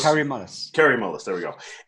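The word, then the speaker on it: Kary Mullis: Kurt Mullis. Kerry Mullis.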